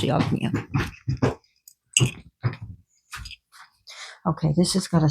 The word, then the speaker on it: Yajna: It's spelled Yajna, but it's pronounced Yagna.